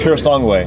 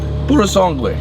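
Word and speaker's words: Purosangue: means th bread in Italian Ferrari SUV yeah pure song way pure song way Pur song way Pur song way see there you goigi s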